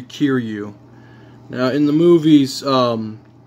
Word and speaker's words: Kiryu: look at type 3 kiru or kiryu i always get that mince pronoun i always get that pronunciation wrong but at least i